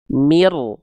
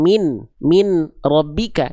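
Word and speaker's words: مِن رَّبِّكَ: udah pindah ke r mirroh bukan min rbika tapi mirbika mir sudah enggak ada n-nya mirbika paham bisa diikut nah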